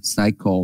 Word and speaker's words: psycho: Thì psychotherapy là liệu pháp tâm lý á, thì thường là psycho là không đập chữ P nha, psycho nhắc chung nha.